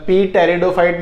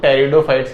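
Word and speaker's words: Pteridophytes: तो वही चीज लिखी हुई है, द टेरिडोफाइट्स इज अ, अच्छा इसमें पी साइलेंट रहता है, पी टेरिडोफाइट मत पढ़ना इसको, ठीक है। पी साइलेंट रहता है हमेशा, तो टेरिडोफाइट्स कहते हैं।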